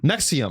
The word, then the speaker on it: NXIVM: Nexium. Yeah. Oh, Nexium. Yeah. So P. Diddy's defense attorney was the defense attorney for the Nexium guy.